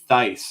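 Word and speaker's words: Thaiss: they're not nearly as good Adam haysley Matt Theiss it's it's pronounced thice and I'm disappointed I always thought it was Stace Matt dice Giancarlo Stanton Dylan cease rookie and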